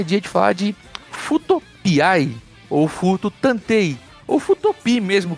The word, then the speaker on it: Fuuto PI: Então, problema eu não sei, mas a gente recebeu uma polícia da pronúncia aí e pediram gentilmente pra dizer Futopiai, que, por sinal, na época, você lembrou maravilhosamente bem que lembrava Magnum Piai, não é?